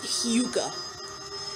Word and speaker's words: hygge: my beginning this this new thing called called hyuga even though it's spelled h-y-g-g-e it's pronounced hugo anyway according to one of them the um